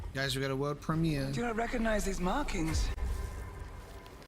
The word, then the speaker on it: Premiere: you say World premiere in German it's actually premiere yeah congrats and thank you so much